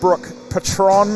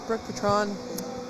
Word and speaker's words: Brooke Patron: Yes, that is acceptable. Patron is a personal favorite, but Brooke Patron is actually how it's pronounced.